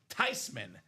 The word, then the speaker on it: Theismann: Changed the family pronunciation to Joe Theismann. Years later, they asked the grandma, were you mad that Joe changed his last name from Theismann to Theismann? She said, nope, I'm okay with it because technically it's pronounced Theismann. So the proper pronunciation is Joe Theismann here in the UA